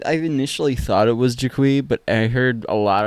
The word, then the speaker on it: Jiqui: co-host victor hello and our very special guest yes hello i am actually it's pronounced jaquie yeah i've been saying it wrong this whole